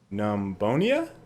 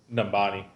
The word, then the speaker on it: Numbani: Speaking of which, We're actually on one of the new maps in this gameplay called Numbonia? Numbania?